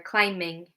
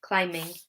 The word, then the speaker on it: climbing: Do you pronounce climbing? Well, you could hear it there, climbing. We don't pronounce the B, climbing. It's an M sound, okay?